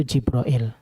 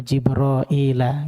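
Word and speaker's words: جبريل: itu meriwayatkan dari asim kalau baca Jibril itu jibrail kalau di al-qur'an ya Wa jibrila Wa Mikala dia bacanya Wa jibraila gitu Tapi kalau imamas bacanya Jibril begitu ya J Allah ahah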